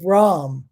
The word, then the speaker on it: Rama: name is rawan r v in sanskrit is pronounced as a w r-a-b-a-n-a one silent day at the end and ram r-a-m-a silent day at the end so you've